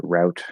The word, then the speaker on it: route: Canadians apparently show strong preference for root since it aligns with the French pronunciation, whereas route rhyming with mouth makes more sense from English pronunciation point of view.